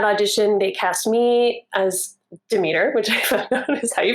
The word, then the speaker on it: Demeter: And from that audition, they cast me as Demeter, which I found out is how you pronounce it.